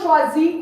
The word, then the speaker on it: choisis: Okay, so is, je choisis. Yes, you don't pronounce the S at the end of choisis.